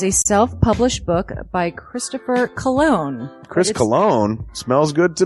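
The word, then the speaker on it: Colon: It is a self-published book by Christopher Cologne.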